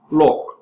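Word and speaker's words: 六: other favorable meanings because both the number six and the word for wealth are pronounced Lo so it has that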